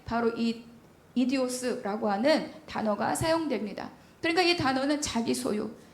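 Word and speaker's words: ἴδιος: 이디오스라고 읽는 단어입니다.이 말은 우리가 흔히 생 내 직장 동료야.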